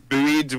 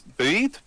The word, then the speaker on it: buoyed: And not entirely, you know, I'm not necessarily buoyed by the response. Buoyed? Yeah. Can't remember if I can pronounce that word or if I'm saying it wrongly. Buoyed? Anyway, yeah. buoyed. Like a buoy.